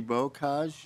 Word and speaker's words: Bocage: Is Christy Bocage here?